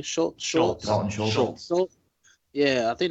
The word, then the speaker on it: Schultz: Schultz.